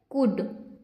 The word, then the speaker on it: could: COULD से क्या पढ़ेंगे, कुड। यहाँ पे ये जो L है वो क्या है, साइलेंट है। L क्या है, साइलेंट है, तो क्या पढ़ेंगे इसे, कुड।